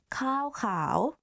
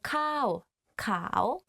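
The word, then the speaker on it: ข้าวขาว: ข ้ า ว ข า ว white rice. One is like higher than another. So ข ้ า ว ข า ว means white rice.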